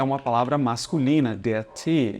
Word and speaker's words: Tee: A palavra Tee é uma palavra masculina, der Tee, e significa o chá, tá bom? Cuidado para não querer pronunciar igual no inglês, né? Aqui é Tee. 2 Es significam que eu devo pronunciar um E bastante longo.